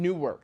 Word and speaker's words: Newark: Newark no we say Newark Newark n-o-r-k yeah don't say you're flying into new Newark I'm flying into Newark yeah I'm going to Delaware Newark even new work yeah that's a little better but but yeah Newark if you're from Jersey is North an Ork yeah he's got that